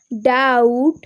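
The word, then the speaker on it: doubt: অ্যান্ড the next rule number 17, vowel এর পর BT এর উচ্চারণ ট হয়, এক্ষেত্রে বি অনুচ্চারিত থাকে। For example ডাউট and date.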